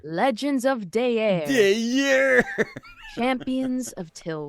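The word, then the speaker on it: Daer: is called Legends of day air it's spelled d-a-e-r and you can find just like had an aneurysm while you're saying dear Legends of day air yeah yeah champions of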